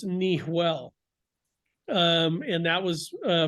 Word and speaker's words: Niguel: everyone was calling it Rancho Niguel or Laguna Niguel because Niguel is not a Spanish word it's